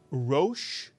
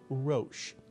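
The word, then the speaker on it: ראש: And if there's only one vowel, there's only one syllable in this word. This is a one-syllable word. Can you read this one-syllable word? And if you said Rosh, you are absolutely correct.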